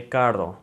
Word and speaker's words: carro: So if there's two R's together, then it's gonna always produce that rolling R sound.